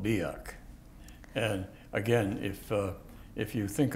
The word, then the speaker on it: Biak: as being a Gila monster, in the neck, Biak is right in a little island. There's one or two islands in there. Can you spell that, please? Hmm? Biak, was it?